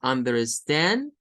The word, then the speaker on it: understand: Daya under, y la sílaba tónica es stand. Daya understand, y me también tiene un sonido fuerte.